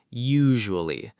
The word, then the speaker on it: usually: Usually, it has a soft "j" sound in the middle. Usually.